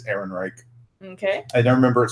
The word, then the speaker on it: Ehrenreich: same so obviously from you at least spelled phonetically it's Ehrenreich okay I don't remember it starts with an